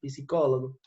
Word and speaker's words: psicólogo: Se perguntou a P, se pronuncia psicólogo.